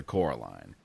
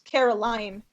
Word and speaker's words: Caroline: and her twin sister coraline caroline it is a running joke that her name is constantly mispronounced and she gets really interesting it's caroline okay okay where did